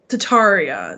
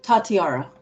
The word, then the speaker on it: Tatiara: wrong I apologize um tataria is that how you say it tatiara tatiara I'm sorry so uh